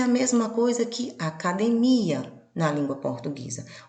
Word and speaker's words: academia: a mesma coisa que academia na língua portuguesa. Observem que as grafias são iguais, observem que os significados são iguais, mas a forma de pronunciar é diferente, porque a sílaba tônica mudou de lugar.